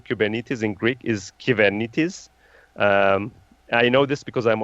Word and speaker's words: Kubernetes: actually just to give you a secret everyone mispronounces Kuban it is the right way of saying kubernetes in greek is given it is I know this because I'm originally from Cyprus